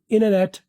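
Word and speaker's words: internet: यहां पढ़ लेना है इननेट इंटरनेट को क्या अमेरिकन वाले बोलते हैं अमेरिकन वाले वाले बोलते हैं इननेट ब्रिटिश वाले बोलते हैं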